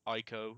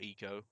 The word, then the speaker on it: Ico: you do this is ico or eco however you want to pronounce it for the playstation 2.